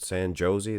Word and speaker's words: San Jose: I thought it was San Jose. I pronounce it San Jose. They said, no, it's just the J's are like H's.